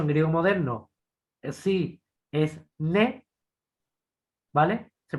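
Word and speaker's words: ναί: Bueno, nai es sí, de hecho en griego moderno sí es ne, ¿vale? Se pronuncia ne, ¿vale? Hay en griego moderno se pronuncia como en francés, nai, ne, exactamente igual, significa sí en griego moderno.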